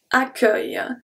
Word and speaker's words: accueil: Accueil. So here we could think that the U is silent after the double C, but not at all. The U, E, I, L, L make the sound œil, œil.